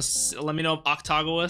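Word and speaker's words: Akutagawa: I'm just going to let me know if Octagawa sounds okay. People say, like, don't even pronounce the U, you know? Like, keep making it okay.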